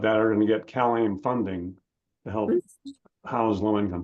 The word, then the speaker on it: CalAIM: are going to get CalAIM funding to help house low-income people. Cal, And how do you spell that? CalAIM, it's well, it's basically CALAIM like Mike.